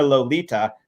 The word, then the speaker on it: Lolita: permitted to wear her Lolita, thus dubbed after the little Andalusian gypsy of that name in Osberg's novel, and pronounced, incidentally, with the Spanish T, not a thick English one.